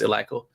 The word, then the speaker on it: Eleiko: If you're watching this and you've never seen Eleiko, it's people pronounce it Eleiko, but it's Eleiko.